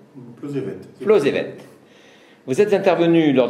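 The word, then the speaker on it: Plozévet: J'ai bien prononcé? Plozevet.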